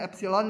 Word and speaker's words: epsilon: Nah, untuk setiap ini, ingat kalau gini artinya ambil dulu epsilonnya, satu bilangan, tapi jangan diambil, ini bacanya epsilon ya.